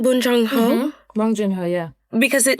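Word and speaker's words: Bong Joon-ho: Bonjunho.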